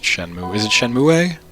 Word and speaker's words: Shenmue: I don't I don't even know if it's pronounced Shenmue. Is it Shenmue? It's just Shenmue.